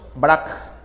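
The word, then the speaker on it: Braque: también cubista ya eh que se llama George brack ya se escribe brack bra fue amigo de Picasso los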